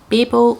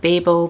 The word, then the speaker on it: Babel: Then, a book I have actually read, and it is Babel or Babel. People pronounce it different ways. I pronounce it Babel because it's based on the Tower of Babel in the Bible, so that's what I go with.